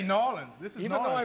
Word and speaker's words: New Orleans: oh yes oh yes now wait New Orleans because it Rhymes in songs down here if you're from the city noin what this is nin y'all you're going to make me say noan we're going to say noin this is even though